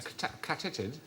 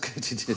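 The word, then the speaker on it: katydid: might they be called a Katy did a Ked no it is actually pronounced Katy did K because supposedly the sound they make by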